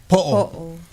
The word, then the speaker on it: po'o: on your head, we call it a lei po'o, which is a head lei. lepo. Po'o, Oo.